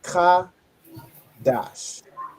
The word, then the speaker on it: Qadash: So the da and sha when they join together they make dash. Okay. So you have ka dash.